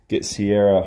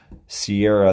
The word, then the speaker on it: Ciara: We're actually looking to get Sierra her own website, and that's actually going to be Sierra, and that's spelled Ciara, Sierra, Heart of a Service Dog, just like everything else that she's hashtagged in.